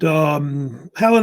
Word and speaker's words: Hellen: You see Helen, like H-E, sounds like a woman's name, right?